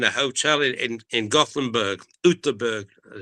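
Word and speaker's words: Göteborg: We almost did, but we we always had a joining rooms in a hotel in in Goththingberg, Utberg as it's pronounced.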